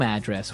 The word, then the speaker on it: address: So, different from your home address where you live. Yeah. And there the stress is on the first syllable. Address.